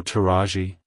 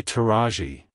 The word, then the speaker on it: Taraji: to pronounce it correctly emphasize the second syllable r ah and lightly PR anounce the e e at the end like Hello taji Goodbye taji if you found the